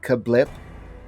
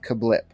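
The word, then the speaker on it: CABLP: because the press release says you're supposed to pronounce it kablip okay there is there is no there's nothing to suggest that it's pronounced kablip because there's there's not enough vowels it's just kabloop yup which stands for get ready this is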